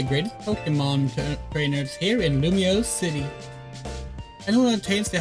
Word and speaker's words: Lumiose: So in France, it's pronounced Illumise. Illumise. That sucks. Lumiose. Lumiose. Okay, so it is Lumiose.